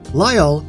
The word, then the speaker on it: Lyle: Lyle, which rhymes with my first name, by the way, was introduced in Christmas of 2015.